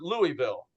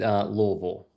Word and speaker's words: Louisville: Louisville, or is it Louisville? Which one is it? If you're from the outside, Louisville.